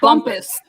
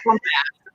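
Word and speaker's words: Bumpass: It's pronounced bumpus, but Bumpus. everybody calls it bump ass. Yes. It's bumpus, yeah. but everybody calls it bump ass.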